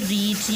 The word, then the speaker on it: read: इसमें रीड यानी स्पेलिंग ये रहेंगे, उसकी प्रोनाउंसिएशन जो है वो चेंज रहती है, ठीक है।